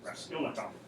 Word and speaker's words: Raskolnikov: Raskolnikov.